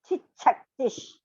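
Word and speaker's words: चिच्छक्तिः: Chichaktish. The cha is Mahaprana.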